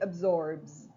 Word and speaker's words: absorbs: Everything else is pronounced Z. For example, absorb, it ends in a B. Okay, so we say absorbs. I absorb, he absorbs. Bz, bz. Look at the end, bz.